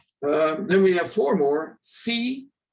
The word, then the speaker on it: Phi: Phi, pronounced F, and written with a PH, not with an F.